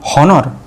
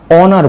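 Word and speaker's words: honor: এইচ দিয়ে ওয়ার্ডটা শুরু হয়েছে কিন্তু এইচের উচ্চারণ হবে না, তাহলে আমরা কি বসাবো? হনার বলবো না অনার বলবো? অনার, অনার, অনার।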